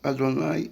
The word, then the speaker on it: Adonai: y h v h é proibido pronunciar da forma como é escrito e sim se pronun Adonai aquele que pronuncia o